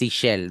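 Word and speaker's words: Ixchel: I know they don't pronounce the Ishel, right? It's Ishel, the flower goddess, the Mayan flower goddess too.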